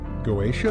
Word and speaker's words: Goetia: Welcome back again to In-Game Chat music here from, how would you pronounce G-O-E? Hold up. Okay. Okay. G-O-E-T-I-A. Goetia?